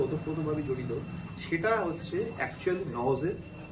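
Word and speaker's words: nous: জড়িত সেটা হচ্ছে একচুয়ালি নজের অর্থ এন ও ইউ এস উচ্চারণ করে এন এ ডব্লিউ এস নজ এটা দেখছিলাম আমি এবার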